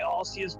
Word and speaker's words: Arceus: There is a correct pronunciation because it's translated, and generally speaking, Arceus is considered more correct due to it being closer to a Latin pronunciation, and considering Arceus' origin and that it is a deity of sorts, the Latin one would be closer to how it should be pronounced.